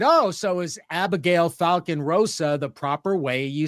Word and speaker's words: Abigail Falcon-Rosa: said, oh, so is Abigail Falcon-Rosa the proper way you say your name? And she pretty much, cut me off at the knees saying, not even close, because obviously it's a Spanish name.